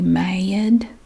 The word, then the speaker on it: mad: okay m.a.d mad and when i'm really mad that word gets exaggerated i'm mad i'm mad m-a-y-a-d mad made mad you're